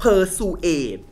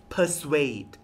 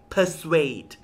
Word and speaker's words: persuade: ไม่ ถูก นะ คะ หลาย คน จะ อ่าน เป็น persuade ซึ่ง ผิด นะ คะ ไม่ ได้ อ่าน แบบ นั้น นะ คะ ไม่ ได้ อ่าน ว่า persuade ทุก คน ขา ลอง ดู คำ อ่าน ค่ะ persuade persuade persuade แปล ว่า โน้ม น้าว